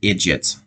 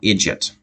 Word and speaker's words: idjit: It says idiot, but it's pronounced idjit. So here's this word again, idjit.